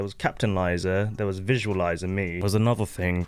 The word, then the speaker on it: VizuaLizah: You guys didn't know it's pronounced VizuaLizah as well. I feel like people do struggle saying my name. VizuaLizah, like literally like a visualizer.